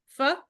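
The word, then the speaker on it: phở: If you go to a Vietnamese restaurant and get the big bowl of fu, isn't that how you say it?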